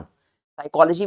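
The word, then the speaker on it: psychology: साइकोलॉजी में P silent होता है।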